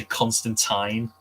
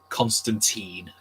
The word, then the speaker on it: Constantine: do you pronounce Constantine I don't say constant time Constantine that's how I pronounce it uh you know